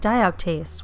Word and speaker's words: dioptase: Next up we have DIOPTASE, which I would have never known how to pronounce if I didn't Google it, but I did, and that is how you say it apparently.